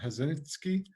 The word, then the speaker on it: Hazinski: sports complex by Tom Hazinski from HVC Convention and Sports Entertainment. I know I pronounced that name wrong, but Robbie, No, you got it just right. It's just like it sounds.